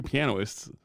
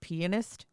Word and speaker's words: pianist: and and it's funny i've got picked two pianoists yeah in the first two you're right you did you know what i mean but billy joel believe it's pronounced pianist whatever i always thought that was a funny